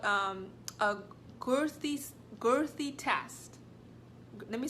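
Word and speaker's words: Guthrie: gonna do this thing called um a growthy girthy test let me spell it for you all right I like I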